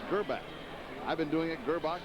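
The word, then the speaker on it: Grbac: their quarterback elvis gerbach now the reason we say gurbak is because we asked him last night he's croatian as he told us that uh that's the way they pronounced it in the family it's kerbbach i've been doing it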